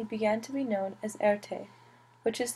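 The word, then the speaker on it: Erté: to be known as Erte which is the sound made from his initials R and T pronounced a and t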